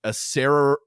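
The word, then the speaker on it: Acererak: Asarak. I don't actually know how it's said, but I always say Asarak. Asarak has a little clone. Sorry, it's Asararak. That's right. So there's another R in there.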